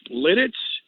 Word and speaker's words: Lititz: like it you know I just recently found out it's Lititz you could get in trouble saying that the wrong way yeah well I that's